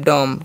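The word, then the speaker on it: dumb: डी यू एमबी से हम लोग पढ़ते हैं डम। क्या पढ़ते हैं? डम। बी साइलेंट होता है।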